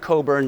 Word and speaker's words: Cockburn: This is John Cockburn, and that's pronounced Cockburn like the port wine, correct?